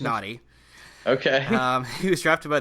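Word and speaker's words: Nnadi: He has 2 N's, N-N-A-D-I. So it is pronounced Nadi.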